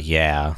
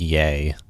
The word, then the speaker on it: yea: It's kind of like Y-E-A is not really... It's not yeah. It's pronounced yay.